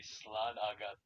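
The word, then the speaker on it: slán agat: The thing he's pronouncing them in the Dublin accent, not the way you're meant to say slan agat. It's more like slang at.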